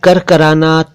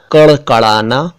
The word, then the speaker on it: कड़कड़ाना: मैं करकराना, तोड़ना, लड़ाई, झगड़ा, हड़बड़ी, गुड़ नहीं बोल रहा हूं। मैंने बोला कड़कड़ाना, तोड़ना, लड़ाई, झगड़ा, हड़बड़ी, गुड़।